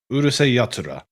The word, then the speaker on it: Urusei Yatsura: How do you pronounce it? Urusei. And then Yatsura. Urusei Yatsura.